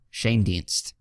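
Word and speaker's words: Schoendienst: you al Shane Dienst so it's just Shane and dienst so it's pretty easy to pronounce once you see it here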